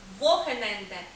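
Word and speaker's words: Wochenende: Отож вихідні дні у німецькій мові звучать як вохененде звертаємо увагу на те що артикль ось тут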